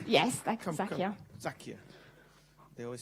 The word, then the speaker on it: Zakia: Yes, that's Zakia. Zakia. They always say that the way to pronounce somebody's name is the way your mother pronounces it.